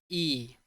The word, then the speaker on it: y: पर इसको हम वाई नहीं कहते हैं, हम इसे प्रोनाउंस करते हैं एज ई।